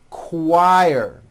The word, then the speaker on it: choir: question, quiet, queen, qualify, quit, Quebec, quilt, and also in the CH word, choir.